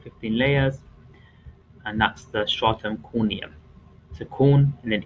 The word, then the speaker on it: stratum: So we've got the stratum, so it's stra and then term, the stratum corneum.